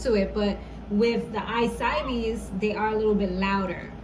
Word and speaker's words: I-Cybie: It's I-Cybie. I think I've been saying I-Cybie or something like that, but I'm sorry y'all. Sometimes my pronunciation is a little off because I got so